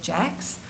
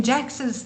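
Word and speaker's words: Jaques: organizational psychologist called Elliot Jax. It's written Jacques here, you see, but he but it's pronounced Jax.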